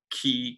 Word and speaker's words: Key: Well, I'm going to point to the great mid-20th century American political scientist, V.O.K., that's Key, K-E-Y, I think pronounced K, who basically said, really,